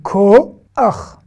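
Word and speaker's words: כֹּחַ: On a dit que quand le Chet, le Chet, pas le Rav, hein, attention, a un A à la fin d'un mot, c'est Ach et pas Ha. Donc c'est Ko-Ach, Ko-Ach.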